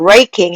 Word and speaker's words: raking: raking 해서 알발음할 때 입술 모으는 거 잊지 마시고요. raking leaves라고 합니다.